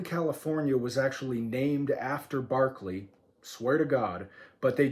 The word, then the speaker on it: Berkeley: was actually named after Berkeley, swear to God, but they just pronounce it wrong. So if you're ever trying to spell George Berkeley's name, spell it like Berkeley, California, but pronounce it correctly, Berkeley.